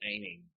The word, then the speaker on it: amine: molecule, it forms an amine. You can pronounce it amine if you want, but it is technically an amine.